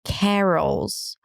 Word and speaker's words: carols: What's interesting here is that even though there is an O, there is no O. So it's ca. Again, it's the as and cad, but before an R, the A changes a bit. So it's not carols, but carols. An R sound, a schwa, and a dark L.